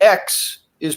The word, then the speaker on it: Xi: appreciate this is um in Chinese the x is pronounced sh so it's actually XI